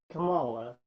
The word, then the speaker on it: Kamala: And from what I hear over on those two with her, Kamala, however you pronounce it. Kamala.